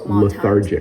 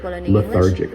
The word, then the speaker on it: lethargic: Lethargic. It has the th makes it a little hard to pronounce for um people learning English, but lethargic.